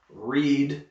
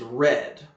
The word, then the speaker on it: read: the way they do read becomes read but it's still spelled the same way just to be confusing